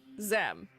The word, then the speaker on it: Xem: Is that Zem or Ze? Oh, wait, hang on. This is Zem. This is Zay. Yes. Yeah. XEM is Zem. XE is Zay, because we're pronouncing the E as an A almost.